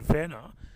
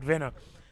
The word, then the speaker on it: Venner: Andy and to continue the discussion on sir on Sir Dwight Venner. Um, Sir Dwight Vena. When when he said Dwight, when I said Vena, I said Sir Dwight Venna um mistakenly and um he was